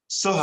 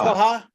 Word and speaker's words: Soha: Soha, I think it's Soha, I think that's the way you pronounce it. And I've been corrected on that. Go ahead, Ash. Soha. Soha? Yes.